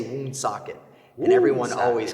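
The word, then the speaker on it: Woonsocket: good buddy he said wound socket is the way you say it because i guess that's how the the the tribe back in the day pronounced it i believe or something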